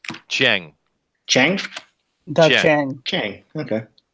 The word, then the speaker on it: Chiang: Do you know how to pronounce that, Chester? Chang.